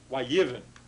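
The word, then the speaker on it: יִבֶן: So from yivneh, we get yivin, accent there on the first syllable.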